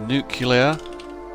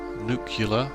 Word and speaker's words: nuclear: to-do list for tomorrow uh the nuclear it's pronounced nuclear nucular nuclear power let's put this somewhere else so